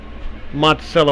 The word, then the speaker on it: Monticello: I believe it's Monticello, Arkansas, not Monticello, I think. I know in Northeast Texas there's a Monticello, Texas, and I was kind of figuring might go with the same pronunciation.